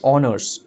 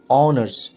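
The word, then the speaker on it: honours: কিন্তু এখানে তো অনার্স আছে, কিন্তু অনার্স যখন তোমরা প্রনাউন্স করছো তোমরা কিন্তু দেখবে এইচ ওয়ার্ডটা কিন্তু তোমাদের সাইলেন্ট আছে, ঠিক আছে। তো ভাওয়েল সাউন্ডটা কিন্তু আসছে অনার্স, অনার্স, ঠিক আছে।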